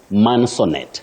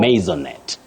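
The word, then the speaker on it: maisonette: agree with me that many people innocently say mansonet mansonet for this word no what you say is masonet masonet or maonet so we should avoid mansonet it's maonet that is the pronunciation of that word wow maonet is you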